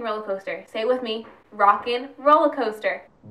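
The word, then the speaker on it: Rock 'n' Roller Coaster: coaster stay with me rockin roller coaster not rock and roll rollin coaster rockin roller coaster yes I am going to make sure you pronounce it right because it's a pet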